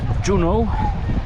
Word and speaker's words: Juneau: nas w centrum miasta juną tak wymawiał tą nazwę a my idziemy sobie